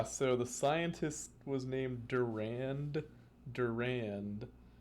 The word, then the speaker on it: Durand Durand: the scientist was named durand durand like d-u-r-a-n-d but you pronounce it without the second d and the band is